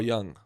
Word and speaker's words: Jung: Shout out to Carl Jung. That's how you pronounce it, right?